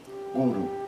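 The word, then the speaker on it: गुरु: Essa palavra é com dois us curtos, guru. Lembrando que isso não tem nada a ver com acentuação tônica. As palavra é oxítona ou paroxítona. Nenhuma das duas. As duas sílabas têm o mesmo peso.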